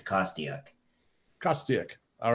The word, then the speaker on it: Kostiuk: original Ukrainian was but really it's kostiak trust dick all right great fantastic so um